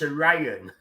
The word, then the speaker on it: Orion: When we just say it properly, it's Orion.